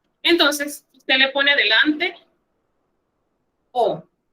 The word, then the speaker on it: au: Entonces, usted le pone delante O. Se escribe AU, pero se pronuncia O.